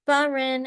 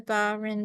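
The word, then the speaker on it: Bas-Rhin: ALU um and I probably won't get the pronunciation correct but it's barin and Oren so they're not exactly equivalent to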